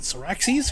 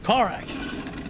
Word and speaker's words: Caraxes: And even then, I don't even know if I'm pronouncing that name properly. Is it Syraxes? Caraxes? Caraxes.